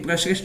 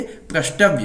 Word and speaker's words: प्रष्टव्य: प्रसृष्टव, प्रसृष्टव, प्रष्टव्य, नहीं, देखिए प्रशिष्ट नहीं है, ये प्रष्टव्य है, प्रष्टव्य।